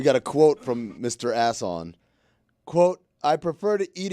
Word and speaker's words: Asson: worst Ishmael Assan sees some something else lunch asson asson is it's spelled exactly like that as SS O N